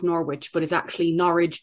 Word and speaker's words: Norwich: Norwich, which is spelled N-O-R-W-I-C-H. And so you think would be pronounced Norwich, but is actually Norwich to rhyme with porridge.